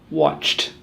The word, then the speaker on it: watched: We have to try and make the ED sound plus T in all 1 syllable. It's not easy. Watched.